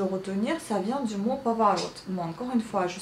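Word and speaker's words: поворот: Et donc, le O, justement, pour le retenir, ça vient du mot pavarot. Bon, encore une fois, je suis d'accord, on prononce le A, mais on écrit le O, mais ça vient du mot pavarot.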